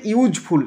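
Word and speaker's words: useful: okay, number 19, iron is dash ইউজফুল metal, iron একটি মানে লোহা একটি দরকারি ধাতু, দেখে ইউ এর উচ্চারণটা ইউজফুল, ইউজ তাহলে ইউ তো দিয়ে হচ্ছে, তাহলে ইউ এর উচ্চারণ ইউ হলে তো কী বসে, এ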